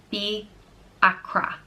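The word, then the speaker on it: Fiachra: and it means Raven it's pronounced the accra be Achra this is a very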